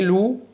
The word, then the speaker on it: loup: AN تنطق en, maman a dit que U لا ينطق, les ES تنطق A, loup PS لا تنطق loup, ça CCD تنطق ça n'existe X ينطق X n'existe que très très loin.